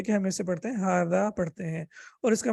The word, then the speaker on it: هذا: لکھا جاتا ہے، اور اس کا جو تلفظ ہوتا ہے یعنی جو پروننسیشن ہوتی ہے وہ ہاذا ہوتی ہے، یعنی یہ ایسی ہے کہ جیسے ہا کے بعد الف ہو، تو یہ ہوگی ہاذا۔ تو اس کی پروننسیشن